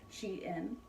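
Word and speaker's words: Shein: got it from sheen now i know it's spelled sheen but i always read it as she in like she in style lord knows i've never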